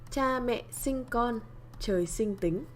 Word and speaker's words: Cha mẹ sinh con, trời sinh tính: So I'm gonna say this so you know how to pronounce it. Cha mẹ sinh con, trời sinh tính.